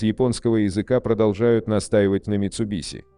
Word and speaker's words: Mitsubishi: Предпоследний звук в японском языке в действительности читается как нечто среднее между «с» и «ш», но ближе к «с», чем к «ш», поэтому подавляющее большинство японистов и